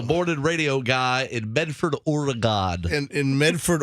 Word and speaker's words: Oregon: I was a morning radio guy in Medford, Oregon. In Medford, Oregon? Yes. And did you go on the air and say Oregon, which is not how you pronounce Oregon?